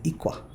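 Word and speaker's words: 이과: They will not say igwa, they will say ikwa. Ikwa.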